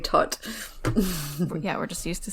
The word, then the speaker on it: Todt: You may know them as the Todd family, but actually, apparently it's pronounced Todt. I always thought it was Todd, so hopefully we won't slip up.